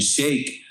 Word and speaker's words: Shaykh: literally pronounced is literally that's really how you're supposed to pronounce the the name is shake you know what I'm